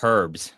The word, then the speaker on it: herbs: that they call it herbs like four times I don't know if that's a I think do they do that that in like Europe or something in America you don't pronounce the h it sounds really weird